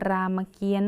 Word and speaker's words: รามเกียรติ์: พี่ อ่าน หนังสือ เรื่อง รามเกียรติ์ พี่ อ่าน หนังสือ เรื่อง รามเกียรติ์ คำ ที่ มี ตัว การันต์ อยู่ ตรง ไหน คะ อยู่ ตรง นี้ ค่ะ คำ ว่า รามเกียรติ์ นั่น เอง นะ คะ